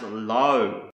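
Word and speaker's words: לא: with the letter Lama the first word is pronounce low and this is it means no and not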